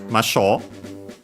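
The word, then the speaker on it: ましょう: So we can drop the ru to make the continuative form to then attach masho. Masho, the accent is on the sho.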